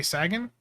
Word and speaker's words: Sagan: Nick wants me to say Sagan, like Carl Sagan.